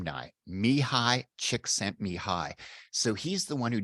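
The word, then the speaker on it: Mihaly Csikszentmihalyi: I actually know this fella and I can actually pronounce his name now. Mihai Csikszentmihalyi.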